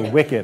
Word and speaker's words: WICED: So if you ever see that WICED, that stands for WICED, or we pronounce it WICED. And when you first look at it, it says, what's this WICED thing? It's pronounced WICED.